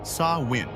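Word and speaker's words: Samhain: Long before Christianity adopted many practices, the ancient Celtic peoples of Britain and Ireland celebrated a festival called Sam Hai, pronounced saw win.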